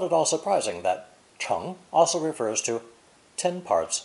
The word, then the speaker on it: 成: The character is pronounced second tone, cheng, cheng.